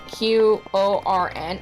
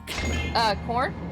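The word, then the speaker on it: Quorn: It's corn. It's spelled with Q. It's Qorn.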